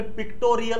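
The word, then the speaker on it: pictorial: picturesque असं म्हणूच नका पिक्चरल होत नाही जनरली पिक्टोरियल होत स्पेलिंग बघायचं पी आय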